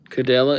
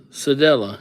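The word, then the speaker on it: Cedella: Cadella, it's pronounced, Sedella. Yeah. Thank you for telling me that because I was about to roll right up in there with a cuh.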